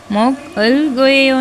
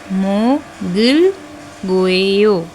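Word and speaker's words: 먹을 거예요: तो इसे क्या प्रोनाउंस कैसे करना है मोगल गोयो मोगल गोयो मोकल गो मोकल गोयो नहीं मोगल गोयो मोगल गोयो खाऊंगा फ्यूचर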